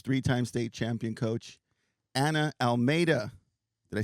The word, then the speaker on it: Almeida: state championship coach three-time state champion coach Anna Almeida did I say it right yes she did